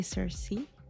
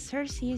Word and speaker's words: Circe: Because I know that English pronunciation should be Cersei something like that but like a the Greek pronunciation should be more like a ki or something but correct me if I'm wrong date of birth unknown